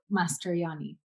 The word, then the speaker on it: Mastrojanni: correctly when I say Mastrojanni? Yeah, it's kind of a silent J, Mastrojanni. Mastrojanni.